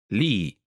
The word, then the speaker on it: Lee: Finally, Mark's family name, Lee, pronounced in Italian. Lee.